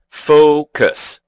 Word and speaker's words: focus: The word has two syllables, and the stress is on the first. That's right. We say focus. Focus. At least that's how we pronounce it in North America, with an O sound in the first syllable.